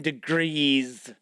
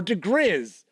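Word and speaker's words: diGriz: Slippery Jim Degrees. Or Degriz. I've heard people point it out a couple different ways to pronounce it.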